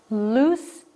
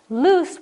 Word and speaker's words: loose: lose my mind and those have a different pronunciation loose and lose loose with the two o's means not fastened lose means to misplace something eight it is it's